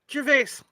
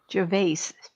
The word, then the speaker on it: Gervais: how do you pronounce that? Gervais. Gervais.